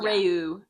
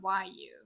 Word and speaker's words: Ryu: Oh, or Rayu or I don't even know how to pronounce it. It's Ryu. So, I always said Rayu.